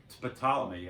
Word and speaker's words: Ptolemy: was a guy called Ptolemy. I may be pronouncing his name right, but it starts with a PT.